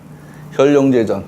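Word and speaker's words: 見龍在田: 현룡제전. 저기서 현은 견이라고 읽으면 내 눈으로 보는 거고 현은 내가 드러나서 보여주는 겁니다. 그러니까 여기서는 현입니다.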